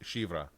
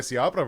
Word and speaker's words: Siabra: It's pronounced Shivra, fancy. right? That's what I said. Nice. You were way off, John. You were way off. Good job. Yeah, but with my Siabra pronunciation, sure, that sounds more Spanish. I should have been Shivra. Oh yeah, these imitate others.